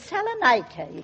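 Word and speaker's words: Salonika: have a son at Saloniki. And of course, mine is fighting in France. Oh, really, Mrs. Dowie? If you'll excuse me, Mrs. Twimley, the correct pronunciation is Saloniki.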